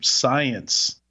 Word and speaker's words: CYENCE: The founder's previous company was had a very similar name, Science, spelled CYENCE, but pronounced like interesting.